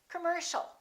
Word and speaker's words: commercial: a are both reduced so it's not calm or calm its come-come commercial don't say commercial or commercial it's all commercial all right let's practice